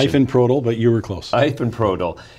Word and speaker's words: Ifenprodil: And I'm sure I screwed up that pronunciation. Ifenprodil, but you were close.